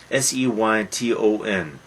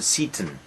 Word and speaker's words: Seyton: Seyton. Probably we should pronounce it Satan, but a natural pronunciation is Satan. But Satan, Satan.